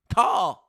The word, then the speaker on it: Cal: James Stemler says Call has the same pronunciation as Call Clutterbuck. Call.